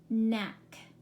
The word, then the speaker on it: knack: connect no it isn't the K is silent isn't it you have three words there that begin with KN you're only going to hear what sound mmm nak what do you think